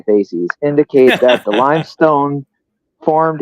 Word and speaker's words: facies: I didn't want to say feces. I wanted to say facies.